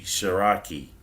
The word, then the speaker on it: Cherokee: actually french right cherokee cherokee is actually shiraki so if you talk to a french person and you go into their history and they talk well they want to talk about the cherokee they'll say shiraki right but that's simply